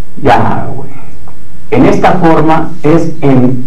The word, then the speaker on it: Yahweh: Imposible de pronunciar en este estado, pero con la adhiriéndole la A de Adán y la E de Eva, es pronunciable Yahweh.